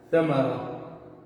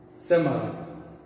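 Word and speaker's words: ثمرة: Tem gente que fala o que? Samara, ou seja, com S. Mas no original, no árabe original, a gente escreve ele dessa forma e pronuncia ele Ta. Não é Sa e não é Ta. É Ta. Para sair o que? Correto. A pronúncia correta no árabe o que? Original, no árabe clássico.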